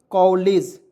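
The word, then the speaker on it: college: ठीक है, तो सी ओ डबल एल ए जी क्या पढ़ेंगे दोस्तों कॉलेज, क्या हो जाएगा दोस्तों इसको मैं बता दे रहा हूँ, कॉलेज क्या हो जाएगा कॉलेज हो जाएगा।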